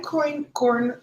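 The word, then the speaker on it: einkorn: is actually called iron corn flour so I'm coin corn flour it's spelled e-i-n-k-o-r-n this is a 12 000 year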